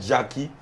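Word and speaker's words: Gakie: So this is called Jackie, but it's spelled G-A-K-I-E. You know, that's not my genre of music, right, so I don't go there.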